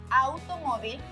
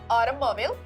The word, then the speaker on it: automóvil: Automóvil, automóvil. In English, the AU sounds more like a, while in Spanish, it is like ow sound.